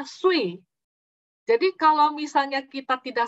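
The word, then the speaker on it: 碎: Kan pecah itu dalam bahasa Mandarin bacanya sui.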